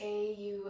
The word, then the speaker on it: Om: our practice with three sounds of ohm pronounced au and well instruct us